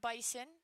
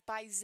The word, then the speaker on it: bison: school in North Dakota it is not bison it is bisen in case anyone was wondering that's how they say it there the one swung on